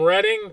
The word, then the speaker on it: Reading: Hello Kevin from Reading, PA. You pronounce it reading, right? Re D I N G. Not reading. Re e D I N G.